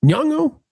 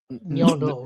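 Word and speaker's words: Nyong'o: the director cast Lupita, how do we pronounce her name? Nyango. Nyongo.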